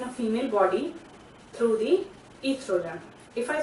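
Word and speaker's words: oestrogen: Now how it takes place, ovary is responsible for the secretion of hormone estrogen. O is silent.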